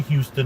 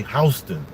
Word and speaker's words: Houston: all the way down to Houston which is spelled like this like the city Houston but we don't say Houston and New York we say Houston and you say it like a German Houston